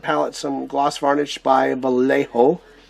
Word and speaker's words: Vallejo: some gloss varnish by Vallejo, or Vallejo, however you want to pronounce it. I think here in California we call it Vallejo. There's a town not too far from me called that.